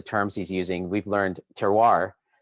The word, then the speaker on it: terroir: he's using we've learned terroir which looks like terrier or terror but is in fact pronounced terroir correct tell you that spell